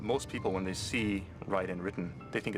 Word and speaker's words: Raiden: It's actually Ryden. Uh-huh. Cuz you know, in Metal Gear from the very beginning there's voice acting, so they know it's Ryden. Mhm. But most people when they see Ryden written, they think it's Raiden.